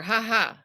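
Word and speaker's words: Jaja: with the H yeah in Spanish you say haha with the J because for us the J is ha not J but I don't know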